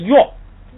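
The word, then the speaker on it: གཡོག: 男仆约，如果单独读的话，牙前边一加前加字读成平声，后边一加卡又降下来变成四声了，所以是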